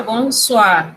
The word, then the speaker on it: bonsoir: Y se pronuncia bonsoir, pero está muy bien que recuerde el significado.